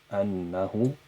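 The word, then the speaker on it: أنه: So it is spelled with three letters, Annahu, but it is pronounced with four, Annahu, Annahu.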